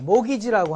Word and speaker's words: mortgage: mortgage는 우리가 말하는, T자는 묵음대입니다. 모기지라고 하는데, 경제학자들은 이게 목숨을 죽을 때까지 목숨을 저당 잡히고 얻어오는 이 저당 담보권이라고 해서 모가지론이라고 그래요.